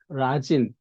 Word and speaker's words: 라진: 하고자 합니다 어라서 사실은 라진 이게 우리나라 발음으로 나진이 발음하는데 어 북측에서는 이제 라진이 언어 그 발음 그대로를 살리거나 이과 선봉의 앞글자를 딴